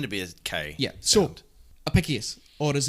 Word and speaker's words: Apicius: speak line right office Apicius or a piss yes it's api CI you yes Apicius Apicius right okay if it's if it's Latin in to be okay yeah sort Apicius or as it's also